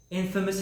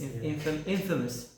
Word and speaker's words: infamous: phenomenal really generally speaking infamous have you watched how you played infamous infamous not in famous infamous famous yeah the pronunciation is different there uh it's actually different